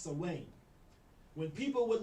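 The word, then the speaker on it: Samhain: celtic festival of salwain it's spelled s-a-m-h-a-i-n but it's pronounced sawing when people would like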